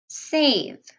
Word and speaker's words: save: flip the house down you said the short sound so try the long sound because of the silent e a save great job now reread